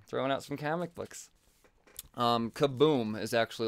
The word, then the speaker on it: Kaboom: outs from comic books kaboom is actually like the sub publisher I believe is how you would say that well that's definitely how you say it but yeah so anyways